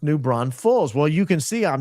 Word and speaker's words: New Braunfels: Braunfels, E-L-S, is L's. It's not Ulls, Braunfels.